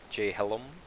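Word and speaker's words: Jhelom: um we can go over here this is jay hellum that's how you pronounce it correctly you can tame the cows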